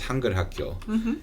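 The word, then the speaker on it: 한글학교: she wrote, and then I forget how she pronounced the other part, but it's Hangulhakyo, and that means Korean school.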